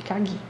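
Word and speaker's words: かぎ: A única sílaba que vai ser alta é o gi, de kagi.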